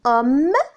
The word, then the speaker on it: homme: La lettre muette placée au début d'un mot, comme dans homme et août.